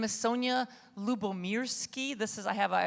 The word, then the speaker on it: Lyubomirsky: people are successful so my name is Sonia lubomirski this is I have I always provide a